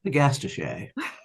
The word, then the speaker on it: Agastache: But I don't like the way people pronounce it because I always really feel it should be Agastache. And I think that is the right way to say it, isn't it?